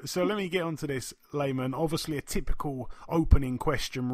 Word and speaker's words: Lamon: Lamon, welcome to the show, my man. Hey, man, thank you. And listen, I better tell you before somebody else tells you, you're going to be mad. It's pronounced Layman.